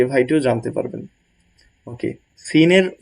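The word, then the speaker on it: سين: ভাইটি জানেন না সে ভাইটিও জানতে পারবেন ওকে সিনের উচ্চারণটা কিভাবে সিন চিনবো কিভাবে তিনটি দাঁত থাকবে এবং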